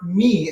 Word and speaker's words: mi: Okay, the third note, that is our me, M-I, is me, and you're going to sing me.